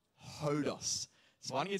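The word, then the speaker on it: ὁδός: that wasn't even intentional the correct pronunciation of this word is hodos hodos so why don't you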